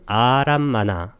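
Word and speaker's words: ārammaṇa: 그 다음에 대상은 아람마나, 아를 장음으로 읽어줍니다.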